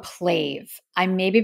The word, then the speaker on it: PLAVE: want to talk about and recommend they called pla I may be pronouncing that wrong it's p l a v